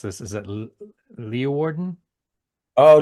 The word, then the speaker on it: Leeuwarden: saw Horn, and I'm going to mispronounce this. Is it Leeuwarden? Oh, Leeuwarden, Hoorn and Leeuwarden.